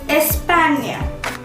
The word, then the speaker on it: España: Spain is called as España.